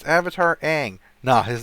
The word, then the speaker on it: Aang: It's Avatar Aang. Nah, his name is Ong.